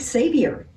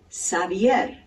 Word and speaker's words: Xavier: has multiple correct pronunciations some people pronounce it Xavier like Xavier University and a friend of